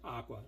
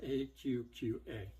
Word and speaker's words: AQQA: The AQQA, I was calling it Aqua, and then when they reached out to me, they're like, it's pronounced AQQA.